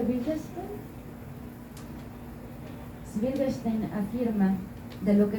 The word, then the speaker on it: Wittgenstein: ¿Cómo se pronuncia? Wittgenstein.